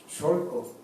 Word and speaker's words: Xolco: es San Pedro, es Jolco Janostoc, nada más que la historia no lo registra así, nada más dicen Janostoc, pero es Jolco Janostoc, Xolco, porque es como se pronuncia.